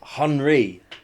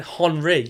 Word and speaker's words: Henry: No, you're it's you're put emphasis on the hon. You're saying Henry and like I get that he's French but you you don't say Terry.